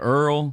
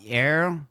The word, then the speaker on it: Errol: Earl. Mhm. Uh what are some other pronunciations that sometimes you get? Uh instead of arrow arrow like they can't figure it out. Errol.